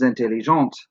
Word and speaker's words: intelligentes: Notice again, the S's are silent. The silent E in the feminine makes the T sound out where it's still silent in the masculine.